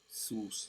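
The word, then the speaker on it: סוס: Sus, how you pronounce it.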